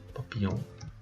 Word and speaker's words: papillon: même ici vous vous vous avez aussi double l donc c'est comme si vous dis si vous écrivez papi Pillon papillon papillon papillon papillonon papillon papillon papillon papillon vous le prononcez papillon papillon une souris et